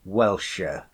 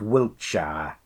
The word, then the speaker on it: Wiltshire: Wiltshire I says though I mostly called welsher but Wiltshire is the way it's spelled if the people on